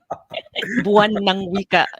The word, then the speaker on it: Buwan ng Wika: Did I You pronounce can it do that. correct? You can do that. Yes. Buwan ng wika.